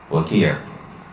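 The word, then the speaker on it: Waki': Waqir. Waqir. Wow. Aywa. Waqir. Wow, kaf, ya, ayn. So he has a famous line of poetry where he said, and this was Waqir, that was Waqir's statement,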